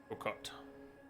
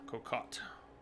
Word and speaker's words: Kokot: Kokot. Not cat. Kokot. Closer?